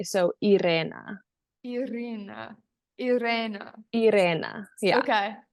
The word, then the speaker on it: Irena: okay so I guess the American way is Irena but if you can the rules are if you can roll your RS you can say my name the right way so Ira Ira Ira Ira yeah